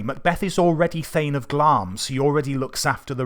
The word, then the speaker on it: Glamis: He's Thane of Glamis, Glamis, but it's pronounced Glamis.